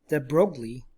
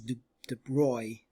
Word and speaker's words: de Broglie: a french physicist called louis de broglie probably the better pronunciation is the broy or something like that who was really fascinated